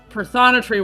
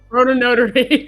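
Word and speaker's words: Prothonotary: And I'm like, well, I've only heard a British man say this bird, so that's my pronunciation of it. Yeah, and he's like, no, it's Protonotary.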